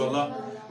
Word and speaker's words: اللہ: خود تیار کریں گے۔ اللہ اکبر، اللہ اکبر، اللہ کے لام کو موٹا کریں۔ اللہ اکبر، اللہ اکبر،